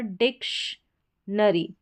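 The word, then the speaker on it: dictionary: फिर यहां पर डिक्शनरी डिक्शनरी डिक्शनरी हो गया। टी आई को यहां पर और साथ में ओ ऐड है। ओ को अ पढ़ेंगे तो टी आई का उच्चारण श है।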